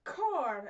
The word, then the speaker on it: corps: So our word of the day is cor. It looks like corpse, but it's pronounced cor, which is a noun,